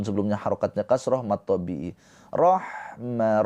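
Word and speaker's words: رحمة: Rohma roh awas. Ha mempunyai sifat rakah mengalir suaranya dan juga hams mengalir nafasnya. Dan ha ini huruf yang bersih ya. Jangan rok. Nanti huruf K itu yang bersih.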